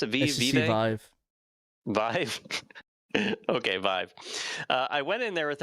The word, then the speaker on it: Vive: Is that how you pronounce it? HTC Vive. Vive? Okay, Vive.